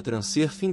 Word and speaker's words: Transurfing: uma onda de Fortuna a palavra pronunciada transcer fim da mesma forma que é escrita se o leitor preferir pronunciar em inglês fique à vontade mas lembre-se de que o som não existe no idioma inglês é uma técnica eficaz